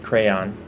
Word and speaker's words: crayon: I do pronounce it crayon, 2 syllables.